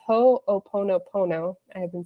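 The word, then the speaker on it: Hoʻoponopono: of this system it's it's supposed to be pronounced ho'oponopono I have been saying it wrong forever my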